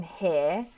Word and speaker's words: here: as it usually is the r in here um is not pronounced because um as you can see there are two vowels either side of it it's nestled between two vowels so the pronunciation is always just the air phoneme good question though thank